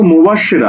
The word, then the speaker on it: মুবাশশিরা: আচ্ছা, ওকে, লক্ষ্য করো, তুমি উচ্চারণ করছো কি মো, তারপর বলছো কি বাস, তারপর কি বলছো সে, তারপরে কি বলছো রা। দেখো, মো বাস সে রা, কয়টা?